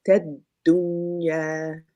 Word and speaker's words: الدنيا: This one you have the sukoon. We make sure we double that dal.